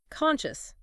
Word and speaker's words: conscious: Conscious is a perfect example where that psi makes a sound that she sound, which isn't what you might expect, or guarantee, where gua is pronounced, with a simple G sound.